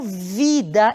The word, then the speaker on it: vida: Então uma palavra como vida, embora escrita com V, eu nunca vou pronunciar como vi, eu sempre vou pronunciar como B.